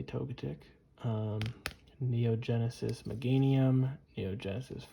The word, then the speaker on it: Togetic: We have Neo 1, Neo Genesis Togetic, or Togetic, however you want to pronounce it. I say Togetic.